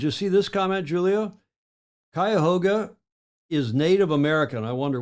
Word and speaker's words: Cuyahoga: My pronunciation of Cuyahoga is apparently correct.